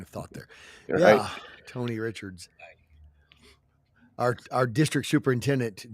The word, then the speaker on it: Richard: when we were kids it's Richard bro is it J.R Richard it is Richard he might be related